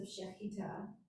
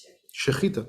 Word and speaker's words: Shechita: Did I pronounce it as Shechita? Shechita, perfect, that's it.